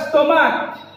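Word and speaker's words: stomach: কোন করিবা এস জড়িবা কেমিতি suppose example class স্টমাক দেখো শেষে কোন আছে সিএচ আছে কিন্তু এটি সিএচ দা কে উচ্চারণ হচ্ছে স্টমাক স্টোমাক কে শেষে কে আসুছি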